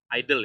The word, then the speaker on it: IDLE: Itu pakai idle ya, bacanya idle ya, idle ya.